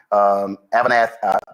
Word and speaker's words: Avanath: Regarding your civilian company, Avanath, that's how it's pronounced, firing you, are you considering suing them for wrongful termination?